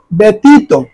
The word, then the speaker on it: ব্যতীত: ব্যতীত এটা আমি কি উচ্চারণ করলাম? উচ্চারণ হবে ব্যতীত। এখানে জফলা দিয়ে কিন্তু এখানে একার দিয়ে ব্যতীত ত এর মধ্যে ওকার ব্যতীত। এরপরে সন্ধ্যা।